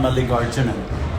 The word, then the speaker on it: Malligarjunan: Malligarjunan.